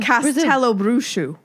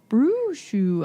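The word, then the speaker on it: Castelobruxo: Castello Bruxu. Brushu. I see it now. Like Mushu, but Brushu? Like Mushu, but Bruxu.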